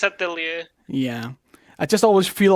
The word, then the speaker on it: atelier: It's French. Atelier. Atelier. If it's French, it's Atelier.